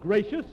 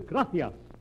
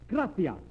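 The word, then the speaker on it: gracias: no no no not gracious that word is graas you see in Spanish the C is pronounced th look graia you see th you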